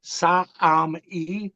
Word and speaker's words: Sa'ami: Their word for their own planet is the Sa'ami, like three syllables.